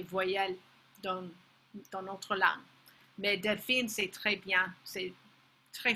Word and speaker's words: Delphine: Comment est-ce que vous prononceriez le prénom Delphine avec l'accent américain? Delphine. C'est très facile pour nous. Avec l'accent sur le « i » en fait.